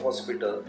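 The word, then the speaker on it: hospital: जाता है की भाई जी तरह अवर में हमने हा को साइलेंट कर दिया और आर की साउंड निकाल गई तो हो सकता है की भाई हॉस्पिटल में कॉस्ट पीटर हम बोलने लगे तो ऐसा नहीं होता क्योंकि हॉस्पिटल में हा को साइलेंट नहीं किया जाता तो यहां पर एक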